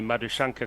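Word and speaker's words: Madushanka: So at the start of the next over, we assume it's going to be Madhushankar continuing to Labuskaghni, which will answer one of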